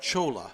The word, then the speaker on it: Chola: up same result yeah his name's pronounced Chola Chola Chola yeah sorry about that